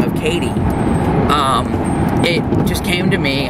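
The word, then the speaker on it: Cady: And her last name was Katie. However, it was spelled C-A-D-Y. So it's spelled like Cody, but with an A.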